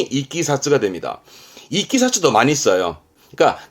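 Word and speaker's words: 経緯: 어떤 사건의 경이라든가이 경의를 뜻으로는 이끼사스 같은 한자인데 발음이 이끼 사쓰가 됩니다이 키사츠도 많이 써요 그러니까 단순한 일에 어떠한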